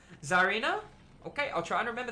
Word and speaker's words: Zarina: to jump in there it's pronounced czarina okay I'll try and